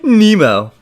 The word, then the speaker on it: Nemo: You didn't get it quite right, young lady. It's pronounced Nemo.